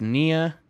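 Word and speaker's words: nee: say this a lot nia which is basically pronounced near without the r that's no uh you'll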